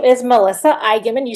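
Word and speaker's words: Eignmann: Floyd yes all right next we have Melissa enman hi can you hear me yes hi my name is Melissa Igman you said it perfectly his last name is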